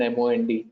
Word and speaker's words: monde: To le, you're not pronouncing li, it is le, and M-O-N-D, mond.